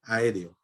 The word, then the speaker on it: aéreo: sílaba pueden t y aéreo es un hiato doble por eso lleva tilde aéreo a r o Entonces es una palabra esdrújula que lleva el acento en la última penúltima en la antepenúltima sílaba entonces aéreo es una